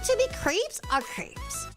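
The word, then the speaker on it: crêpes: Like to be creeps or crepes. Is it creeps or creps? Creps. Creps. Creps. Is it a short e or a long e sound? Uh, creps are creps.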